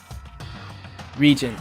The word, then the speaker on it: regent: Regent, like how you say it, it's someone who takes over for a gang. Reagent is how it's said for chemicals.